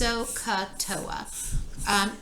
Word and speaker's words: SOHCAHTOA: in math, and it's SOHCAHTOA. And it's spelled kind of funny. So is S-O-H, Ka, C-A-H, and Toa, T-O-A.